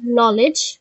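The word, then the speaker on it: knowledge: নলেজ, নলেজের কেটা silent, honesty, অনেস্টির এইচটা silent.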